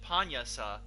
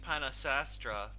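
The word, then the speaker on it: Pannasastra: uh they pronounce it panyasa that's how they pronounce it panyasa somehow that spelling the spelling looks like panasastra but they pronounce it panyasa for some reason yeah it's using enya's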